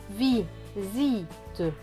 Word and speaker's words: visite: Le S va donc se prononcer Z. Donc, S et I, ici, va se lire zi. T et E. Te. Donc, ce mot va se lire vi. Zi. Te. Visite.